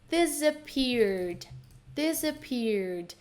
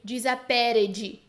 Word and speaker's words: disappeared: Então, o irmão do meio, disappeared. De novo, não pronuncio disappeared, né, com esse ed bem forte. Esse ed vai bem fraquinho, bem seco, né? Não é fraquinho, ele é curto e seco no final.